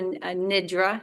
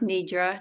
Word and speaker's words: nidra: We're doing yoga nidra, nidra, depending how you pronounce it.